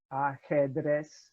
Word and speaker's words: ajedrez: The letter J is pronounced as an English H. So Javier, Jota, ajedrez, okay? Those are your J's. And it'll never be pronounced J. Okay?